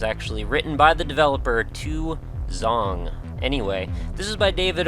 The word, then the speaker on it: 2X0ng: name is Nick and today we're checking out two zong yes that is how you pronounce that title if you were wondering that was actually written by the developer to zong anyway this is by David ool this is